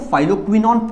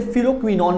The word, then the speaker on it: phylloquinone: चलिए फाइलो, अच्छा कहीं कहीं इसको फाइलोक्विनॉन बोला जाता है, कहीं कहीं से फिलोक्विनॉन भी बोला जाता है।